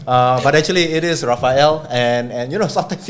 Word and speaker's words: Rafael: a manager of spinoff singapore polytechnics entrepreneurship center raphael thanks kevin thanks thanks for thanks for